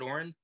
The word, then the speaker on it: Aurin: interview series uh today with me is oren is that how you pronounce it oren that's it all right fantastic so plays